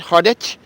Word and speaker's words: Hearted: It's called Hearted, H-E-A-R, like a heart, with an H at the end, Hearted. I think that's how you pronounce it.